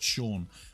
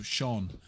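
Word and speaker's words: Sion: Shawn sha it's spel it's definitely pronounced Shawn but it's spelled s i o n so Shawn it's been Shawn for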